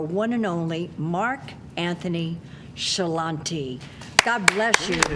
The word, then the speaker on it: Ciarlante: Help me welcome our one and only Mark Anthony Shalante. God bless you. Did I pronounce it correctly?